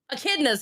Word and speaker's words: echidnas: Echidnas.